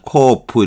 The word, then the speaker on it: cough: 요거는 F 발음이 나죠. D 거 GH는 F 발음이 나서 코어프 이렇게 발음하는 거.